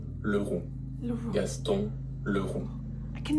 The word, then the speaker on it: Leroux: Gaston Leroux.